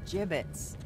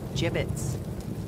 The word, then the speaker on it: gibbets: hey look Avery had some gibbets left over gibbets what it's pronounced jibbets are you sure yeah well no one likes